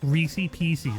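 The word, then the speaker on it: Reese's Pieces: Reese Pieces, man. That's how you pronounce it.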